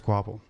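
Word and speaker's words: Kvapil: Travis Quapple, I believe it was, but his name spelled like KVAUPIL or something.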